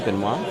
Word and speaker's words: Benoit: How do you pronounce Benoit? Benoit? Yeah. Oh, it's French. Morning. Benoit.